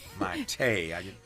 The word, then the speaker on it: Mayte: I'm gonna lay harder on that tay. Mayte.